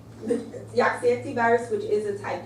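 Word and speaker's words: Jaagsiekte: So your common coronaviruses include feline leukemia virus, Rouse sarcoma virus, mouse mammary tumor virus, and this is pronounced Yaxietti virus, type D. Yaxietti virus, which is a type D retrovirus.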